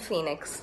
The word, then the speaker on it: Fenix: Justice for Jayaraj and Phoenix, and that's spelled F-E-N-I-X.